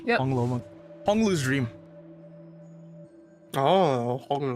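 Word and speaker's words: Hong Lou Meng: Oh, Hong Lo Meng. That's what it's pronounced. Yep. Hong Lo Meng.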